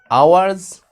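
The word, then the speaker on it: hours: مانيه يعني ايه 8 اورز اورز افري نايت سليب فور ونركز كده عندنا كم ملحوظه هنا في الجمله اول حاجه ان الاتش بتاعه اورز ديت يا حبايبي سايلنت يعني ايه سايلنت يعني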